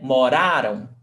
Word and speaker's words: moraram: Morarão, the stressed syllable is rão, and moraram, the stressed syllable is ra.